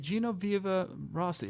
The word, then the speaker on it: Genoveva Rossi: Genoveva Rossi. Yeah, it's an Italian name, Oh, so okay. I always say it's best to say it with an Italian accent. Okay, Genoveva Rossi.